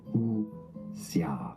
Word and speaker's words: wuxia: Also, like kung fu cinema and like wuxia film. How do you pronounce that? We are looking at how to pronounce this word from Chinese. How do you say it correctly? The pronunciation is as wuxia, wuxia.